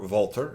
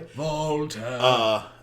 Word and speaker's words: Walter: Walter, or Volter, if you want to pronounce it properly. Volter.